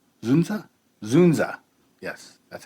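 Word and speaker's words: Dzundza: inner city school at stars Michelle Pfeiffer George zunda zunza zunza yes that's how you pronounce his name okay and Courtney B Vance uh it was released August 11 1995.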